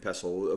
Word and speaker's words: pestle: done it again it's it's tough to remember that tea is silent um so it's a mortar and pestle but it's like it's easy to miss that anyway we're going to